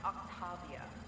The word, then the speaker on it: Octavia: our file says technology barrier technology and it's pronounced Octavia why don't you come out peacefully why don't